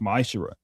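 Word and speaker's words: מעשר: You can find this in numbers 18 to 21 in Malachi 3 8-10 means 10th in Hebrew and it's pronounced misher.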